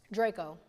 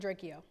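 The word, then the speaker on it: Drakeo: Draco. Not Dracio. I said it wrong. Draco the ruler. Draco the ruler. People from the South be calling him Dracio, which I get. It looks like that. It's Draco. Okay.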